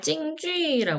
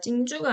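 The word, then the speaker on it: 京剧: 대한 내용 한번 보시겠습니다 찡주 하죠 거 땡땡 발음이 진주가 아니고 주라고 읽으셔야 돼요 중국 경극이 굉장히 유명하죠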